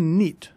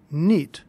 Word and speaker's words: knit: off Champion for 1971 notice that the word knit is spelled with a silent k all words in English